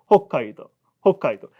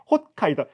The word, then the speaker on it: 홋카이도: 그 원래는 홋카이도. 기어가는 키읔 느낌이 받침이 뒤에 있는 카 자음에 영향을 받아서 그래서 홋카이도가 되는 겁니다. 근데 한국 다 시옷으로 발음하라고 했잖아. 그러니까 홋카이도.